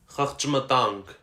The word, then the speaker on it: Խղճմտանք: Խղճմտանք. In writing, it looks like one syllable with a cluster of 5 consonants at the beginning, but in speech, it has 3 syllables when you consider the schwa sounds.